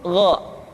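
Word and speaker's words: غ: Yang selanjutnya adalah huruf Gha. Diucapkan seperti kita mengucapkan huruf Kha, yaitu diucapkan dari pangkal tenggorokan kita. Yang membedakannya adalah Kha mengalir nafas dan Gha tidak mengalir nafas.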